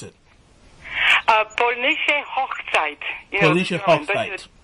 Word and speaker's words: Polnische Hochzeit: But how do you pronounce it? Polnische Hochzeit.